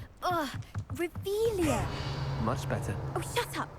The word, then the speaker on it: Revelio: You're Revelius. saying it wrong. Revelia.